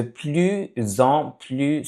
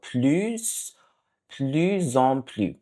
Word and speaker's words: plus en plus: Next one is de plus en plus souvent. So the first S is pronounced usually, and then the next one is not. So plus en plus, plus en plus.